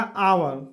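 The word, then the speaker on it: hour: हम एच नहीं देखेंगे दोस्तों कि एच से हमको कोई मतलब नहीं है, मतलब हमको क्या है उसका हिंदी का उच्चारण जो होगा वह क्या आना चाहिए, भावेल आना चाहिए।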